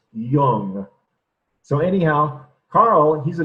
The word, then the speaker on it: Jung: So like with the words with Hippocrates, make sure you know how to pronounce them. With Carl Jung, it's not young, and it's certainly not Jung. It's Jung.